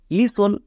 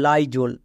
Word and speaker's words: Lysol: জন্য হস্তিকার হবে, মানে লিসোল। কিন্তু না, এর উচ্চারণ হবে লাইজোল, ওয়াই এর জন্য আই উচ্চারণ হবে।